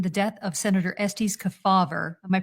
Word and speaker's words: Kefauver: Do you factor in the death of Senator Estes Kefauver? Am I pronouncing that right?